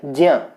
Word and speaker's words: ज्ञ: दोनों की उच्चारण अलग अलग हैं लेकिन हम ज्ञ उच्चारण को बोलते हैं और जो शुद्ध उच्चारण है इसका वो है ज्ञ।